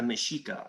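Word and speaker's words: Mexica: no it's it's the meshika that's that's like if someone is really well read they'll they'll explain mexico or mexico usually x is pronounced like an sh um but again stuff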